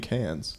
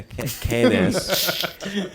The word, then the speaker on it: Cannes: Oh, you mean cans? Yeah, Cannes. Cannessi. Is Khan like the lore pronunciation?